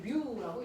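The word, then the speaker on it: μ: 그래서 물체와 바닥 사이 거칠기를 나타내는 걸 마찰계수라고 하고 우리는 뮤라고 읽는다.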